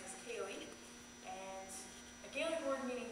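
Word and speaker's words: ceilidh: you're looking at but that's uh what we pronounce as kayy and a GIC word meaning to visit that's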